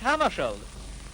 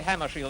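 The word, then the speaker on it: Hammarskjöld: Well, I pronounce it myself in Swedish Hammarskjold. But if you say Hammarskjold, that's all right with me.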